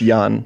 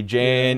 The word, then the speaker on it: Jan: your name oh it's yan yan soft J rhymes with Swan Yan okay everyone always